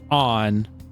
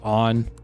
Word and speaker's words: Ann: I mean, it looks like Anne, but they said on. So I don't think it really matters which way you say it. I'm probably going to try to say it like how they say it.